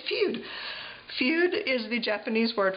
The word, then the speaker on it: Fude: She thought that I was saying feud. Is that how you spell it? No. You know, feud, like a fight. And I said, no, it's feud. And she said, oh, it's pronounced Fude. Fude.